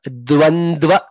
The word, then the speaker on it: dvandva: Dva dvandva. Na dva. So entire line. All the four. R, d, va, n, d, va. All the letters to be pronounced.